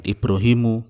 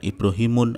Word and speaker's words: Ibrahimu: Maka kalau namanya itu bukan Arab, bacanya adalah tanpa tanwin. Ibrahimu, bukan Ibrahimun atau Ibrahiman.